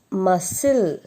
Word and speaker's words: muscle: The peculiarity of all these words are every word has C in that, but we will not pronounce that C.